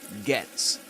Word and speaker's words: gets: accents, in, for example, gets, he usually pronounces it like this, get, you've got to get.